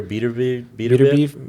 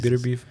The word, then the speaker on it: Beterbiev: How do you say it? Beterbiev? I looked at his pronunciation. I think it's Beterbiev.